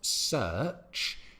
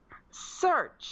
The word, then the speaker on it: search: between my pronunciation of search and Anestis pronunciation which is search that's it so you can hear it a stronger R sound in her pronunciation so my pronunciation in British English is search her ZZZ search thank